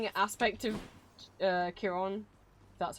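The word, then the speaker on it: Chiron: okay having aspect of uh Kiron that's how it's pronounced so cool not just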